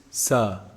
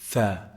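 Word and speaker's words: ث: produce that sound, but they produce sa instead. No, it's actually tha, tha. Look at the tip of the tongue and the edge of the upper incisors. Tha, tha. Tongue out. That's how you say it.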